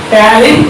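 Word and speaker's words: ptyalin: It is also called as tannin enzyme. P is silent. How to read? Tannin. Don't read P. P is silent. Tannin. Write tannin. Write P-T-O-A-L-I-N. But read only tannin.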